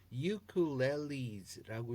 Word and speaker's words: ukulele: 그러니까 보통 우리가 우쿨렐레라고 이렇게 얘기를 많이 하죠. 근데 ukuleles라고 이렇게 읽는 거.